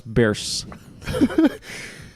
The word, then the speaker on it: Bierce: So we said Ambrose Bierce. Like the Bears.